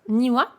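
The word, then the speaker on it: 庭: Pourquoi ici ça pouvait pas être niwa?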